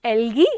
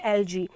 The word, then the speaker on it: algae: Yes, there is a two pronunciation and both are correct, algae and algae.